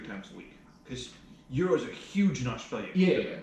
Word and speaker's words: gyro: like 2 or 3 times a week because euros are huge in Australia for Yeah, different reasons. Are they called euros? Yeah. Or are they called GYROUS, whatever.